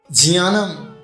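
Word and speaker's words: ज्ञानम्: आप बोलेंगे ना ज्ञानम, ज्ञानम नहीं है, GYAN नहीं है। लेकिन हमें आज तक क्या पढ़ा गया, ज्ञानम। ज्ञानम शब्द नहीं है। स्पेलिंग देखिए, JNANAM। क्या हो गया, जानम नहीं, जियानम। ज और यहाँ से मिलकर के बनता है जिया, इसलिए क्या लिखा है, जियानम।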